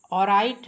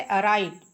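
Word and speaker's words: alright: यहां पर ल छूट गया है। अराइट है यानी एल साइलेंट है। इसमें क्या है? एल साइलेंट है। अराइट बिल्कुल सही।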